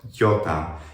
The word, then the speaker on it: iota: ancient Greek, demonstrates how many vowels like epsilon iota, which in the ancient language was e, becomes e. It sounds like iota.